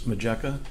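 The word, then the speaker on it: Matjeka: So, if you can if you can give us your name and spell it for the report. My name is Thomas Meka.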